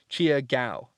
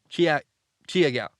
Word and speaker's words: Chia Gao: My name is pronounced Chia like Chia Pet, and Go or Gao, like gout but without the T. So Chia Gao. Chia Gao.